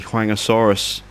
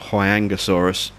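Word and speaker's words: Huayangosaurus: Same location again, so we can get the Huangosaurus. Or Huangosaurus, I think it's pronounced.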